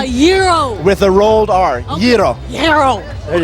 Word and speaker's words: gyro: pronunciation it's actually a gyro more more more of a Y pronunciation gyro with a rolled r00